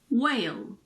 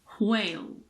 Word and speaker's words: whale: If a word starts with WH, the H is normally silent. Whale, what, when, white, why. But you should be aware that some native speakers pronounce WH as wh, so it's like an HW. Whale, what, when. It's not super common, but it exists in some dialects.